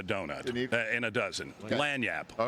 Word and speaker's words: lagniappe: What we call that is lagniappe. Lagniappe is a French term, means that little something extra, that 13th donut in a donut, in a dozen. Okay. Lagniappe.